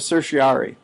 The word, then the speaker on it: certiorari: THERE IS THIS WRIT OF CERTIORARI.